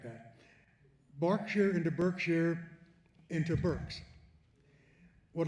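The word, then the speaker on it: Berkshire: Anyone who has ever been to Reading, England knows they are not in Burkshshire. They are in Barkshshire.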